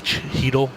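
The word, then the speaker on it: Chytil: with kratsov who they drafted this year and Cheadle who they drafted last year at 27 he dulce h y TI l but is pronounced heat'll and then they've got a lot of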